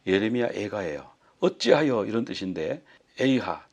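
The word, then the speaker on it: איכה: 어찌하여 이런 뜻인데 에이하 또는 에이카 이렇게 발음하는 분도 있는데 이건 이제 키노트라고 그래서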